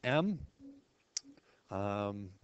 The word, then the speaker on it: mu: sort of like an m um or you know sort of a fancy lowercase U with a extra little hook there and again it's pronounced mu like m u like music mu and standard deviation of